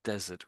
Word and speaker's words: desert: So the note the the noun is pronounced listen to this one. Desert. Desert. That's the noun. The verb is pronounced desert. Yeah.